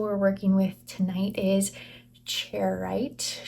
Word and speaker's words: Charoite: The first crystal we're working with tonight is charoite. Charoite, I think is how you say that.